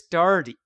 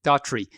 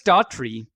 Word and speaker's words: Daughtry: But it's because of the one episode where Chris Daugherty. Let me say his name. Easy for you to say. It is not, as a matter of fact. No, it's not. Daughtry. Chris Daughtry, who is actually, we love Chris.